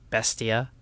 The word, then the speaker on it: Bestia: deal with Joe Galley saying Beast yes yes yes when it's Bestia idiot learn to pronounce and the louder video